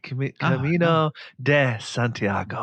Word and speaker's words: Camino de Santiago: And this is all about you doing the Camino to Santiago. Is that Did I say it right? You said it right. Camino de Santiago.